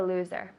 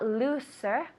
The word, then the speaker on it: loser: the game he's the loser loser now loser the s sounds like a zed loser so it's not looser loser loser tell me loser good with the zed one more time loser